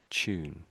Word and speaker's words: tune: So, it's a t, but we say ch. Tune.